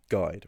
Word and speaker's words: guide: Well, it's similar to the English um guide, right?